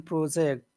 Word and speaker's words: project: say that word project where's the accent project that on the first syllable or the second syllable yeah it is noun so it is on the first cevel MH the project project